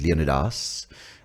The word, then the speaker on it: Leonidas: the word Leonidas, I've heard it pronounced also as Leonidas.